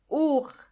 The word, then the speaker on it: Uhr: Uhr. Uhr means clock, and the H in this case is silent.